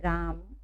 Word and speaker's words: रामः: जब शब्द के अंत में यह आता है, यदि उसके पहले कोई मात्रा ना हो तो हम बोलेंगे ह, है ना।